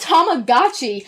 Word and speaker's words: Tamagotchi: No, it's Tamagotchi and Tomodachi. Oh, that's probably where I get mixed up. Yeah. Tamagotchi. I learned that recently because it's Tomo. Tama goes with the gotchis.